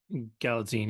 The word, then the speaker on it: Galitzine: I think it's I've pronounced heard his name a lot, Galitzine. but Galitzine. Galatzine, yeah.